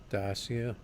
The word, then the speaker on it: Dacia: Dacia, that's how it's pronounced.